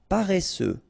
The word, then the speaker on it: paresseux: final day not pronounced paresseux final x not pronounced cuire seul jolie chanceux